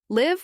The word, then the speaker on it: live: Live with a short I is the verb we use to talk about where someone resides.